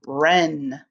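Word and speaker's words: wren: 20 knife k-n-i-f-e knife now we have 21 ren w-r-e-n ren is a bird and what also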